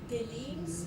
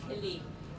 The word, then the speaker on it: kilim: Are those galines versus carpet? What did you say about the carpet? Well, probably you pronounce it kilim. Kilim is. Kilim. Oh, Yes, kilim.